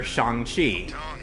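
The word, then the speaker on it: Shang-Chi: our main character or shanghi hey yes that's how it's pronounced in the movie you know it's not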